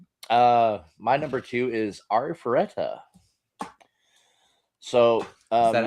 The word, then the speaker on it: Arifureta: Uh, my number two is Arifureta.